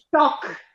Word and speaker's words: toc: Toc. Allora, No, la C seguita dalla H in fine di parola si legge C forte, ci dura, toc, soc, pioc, ploc.